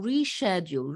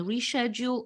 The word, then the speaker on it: reschedule: postpone put off or reschedule reschedule a meeting mind you both pronunciations are possible we can reschedule or reschedule a meeting then we take